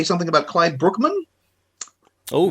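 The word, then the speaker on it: Bruckman: Brookman we always say Brookman but it's evidently pronounced like like a babling brook Brookman and he he was primarily a writer um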